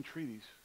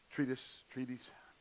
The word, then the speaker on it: treatise: The opening treaties, I pronounced that right. Treatise.